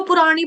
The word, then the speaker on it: पुराणी: यत यत यत बोलो प्रवत्तता पुरानी पुरानी इसको पुराणी पता है कैसे पढ़ना है?